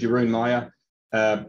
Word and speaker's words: Jeroen Meijer: So as Paul said, my name is Jeroen Meijer. Probably not the way you would have thought I'd pronounce it based on the spelling of it, but that's Dutch for you.